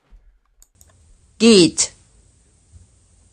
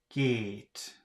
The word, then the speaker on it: geht: Geht. Geht. Gate.